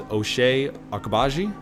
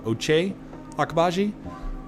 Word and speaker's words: Ochai Agbaji: I think how you say it is Ochai Agbaji, or Ochai Agbaji.